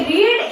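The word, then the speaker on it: read: देखिए रीड एक ऐसा जो वर्ब का फर्स्ट फॉर्म है उसको रीड रेड रीड भी कहते हैं। ठीक है? तीनों फॉर्म में रीड की स्पेलिंग यही रहेगी। आर इ ए डी रीड ही रहेगा। ठीक है? इसको बस इसका प्रोनाउंसिएशन चेंज हो जाता है।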